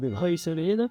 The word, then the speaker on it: Ruiselede: Et alors, est-ce que tu peux expliquer un peu, ici on se situe à Ruiselede, ça se prononce bien comme ça? Ruiselede.